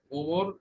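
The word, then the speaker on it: عمر: ওমর ইবনে, দেখো এখানে ইংলিশে ও দিয়ে লেখে ওমার, আবার ইউ দিয়ে লেখে উমার, দুইটাই লেখা যায়, ওমর উমার, ওমার উমার। আরবিতে আইনের উচ্চারণ হবে ওমর, ওমর ইবনুল খাত্তাবি রাদিয়াল্লাহু আনহু।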